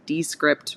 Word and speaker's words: Descript: is what you're hearing d-e-s-c-r-i-p-t d-script or descript i don't think they care how you say it so hey you know